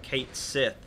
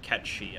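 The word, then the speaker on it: Cait Sith: are fans of Final Fantasy 7 it's not pronounced Kate's it of course not it is it is catchy probably I think at square-enix they meant they pronounce it catchy I'm pretty sure and that seems to be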